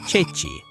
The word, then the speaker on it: ceci: And here the word Ceci is pronounced Ceci. See what's so cool about this? This one word perfectly shows you the rule because it has both of the soft C combinations in it. CE, which is che, and CI, which is chi.